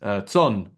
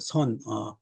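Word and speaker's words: 선: the establishment of what you mentioned earlier is Zon, or better known as Zen philosophy. Yes, yes, yes. You said it right. The Son or Zen, Mm, which means meditation.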